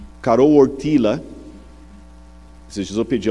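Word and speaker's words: Karol Wojtyła: E o Carol Ortila, esses dias eu pedi a alguém que fala polonês para me corrigir a pronúncia, Carol Ortila, que era o nome do Papa, ele sofreu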